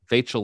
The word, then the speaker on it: Vachel: Fairly short, whimsical piece based on a poem by, you'll have to help me pronounce this, Vachel? Like Rachel. Vachel Lindsay.